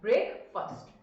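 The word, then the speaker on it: breakfast: देखिए, स्पेलिंग में FAST आता है, बट इट is first, ब्रेकफास्ट, right?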